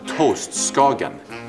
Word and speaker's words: toast skagen: To start, a toast, skagen. Pronounce, please.